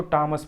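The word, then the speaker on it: Thomas: हो जाता है इसको हम थॉमस नहीं पड़ते हैं इसको विटामिंस बढ़ते हैं इसमें साइलेंट हो जाएगा तो इसको टॉमस पढ़ा जाएगा आगे देखता हूं तो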